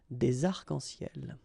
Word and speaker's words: arcs-en-ciel: Okay, you can see that as usual we don't really pronounce this final S, so phonetically it's almost the same, but then we've got this liaison between the two, des arcs-en-ciel.